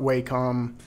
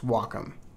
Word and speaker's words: Wacom: add some text to pronounce Wacom not wcom not whack it's Wacom you can watch the